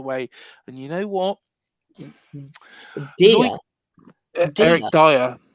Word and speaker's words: Dier: Early sources say Eric Dier could come the other way. And you know what? Eric Dyer. Oh, Dyer. Eric Dyer. I can always call him Dier.